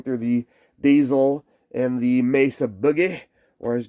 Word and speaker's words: Mesa: the diesel and the mesa boogie whereas james producer james says mezza that's kind of how they pronounce it over here in the uk and uh looks like